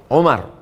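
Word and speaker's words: عمر: Qala syarihu rahimahullah, penjelasannya Imam Ibnu Hajar Al-Haytami berkata, an Abi Amr, dari Abu Amr, bil waw, Abu Amr. Kalau tak ada waw, Umar.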